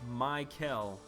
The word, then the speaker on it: Mel: so many more points my name is pronounced Mel Mel yeah dude I will